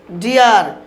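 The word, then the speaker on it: deer: বলছে তারপরে উদাহরণ দেখুন ডিয়ার, ডি ডাবল ই আর, ডিয়ার।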